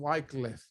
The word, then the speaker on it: Wycliffe: John Wycliffe. Gracias, Josie, por pronunciármelo.